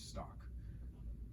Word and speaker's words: stalk: I emphasize the pronunciation of the L, even though they wouldn't say this is stalk.